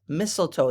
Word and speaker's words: mistletoe: this is mlto mlto I know it looks like misto but it's mistletoe that first T is silent mistletoe you hang mistletoe